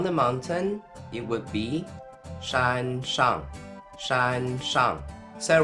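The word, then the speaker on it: 山: it's pronounced in Mandarin Shan Shan and in Japanese Yama for Konami Yama and son for only me son be careful that the Mandarin pronunciation is different from the Japanese one it's all about the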